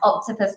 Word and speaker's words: 8Topuz: It's pronounced octopus, by the way.